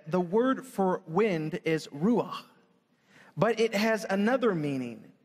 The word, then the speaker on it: Ruach: And am I pronouncing this right? Is it Ruach? Ruach.